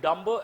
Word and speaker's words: dumb: The idea that we get dumber as we grow, please underline the word. The word, actual word here, please write the word dumb. B is silent.